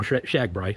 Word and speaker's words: Shagbrai: far, but you know, Shagbrai. So anybody who's familiar with Shagbrai. Mm-hmm. But yeah, okay, yeah. So Austin Powers, yeah. Yeah, it's just rhymes with RAGBRAI.